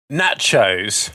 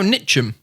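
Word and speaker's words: Ntcham: Nachos. No, Nitcham. Nitcham, that's it. My pronunciation isn't the best.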